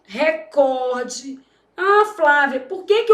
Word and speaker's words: recorde: Só na sua prova que você precisa saber que o certo é o quê? Recorde, porque essa palavra é paroxítono.